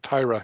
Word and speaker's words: Tyra: don't mind okay and i know that last time i think i'd pronounce it tire because i didn't know but tyra yes i remember that so